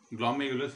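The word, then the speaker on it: glomerulus: ग्लोमेरुलस are silent होता है, ग्लोमेरुलस इसको बोला जाता है, यहीं पे जो है ये कनेक्शन होता है, ठीक है।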